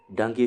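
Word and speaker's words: dengue: o p h e l e s next dangi fever you don't hear of dangi fever now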